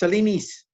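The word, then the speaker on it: σελήνης: kai to triton tes selenes. Again, modern Greek people says it's not selenes, it's selenis. Anyway, sorry, selenes. I'm Erasmian.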